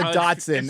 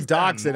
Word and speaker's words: dachshund: __ ] hot dogs it's not a Datsun it's a dachshund I've just never seen